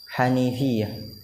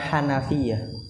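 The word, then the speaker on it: hanifiyah: rahimahullah mengatakan annal hanifiah ingat dibacanya hanifiah bukan Hanafiah hanifiah itu artinya lurus kalau Hanafiah artinya keran keran air Jauh enggak maknanya Wii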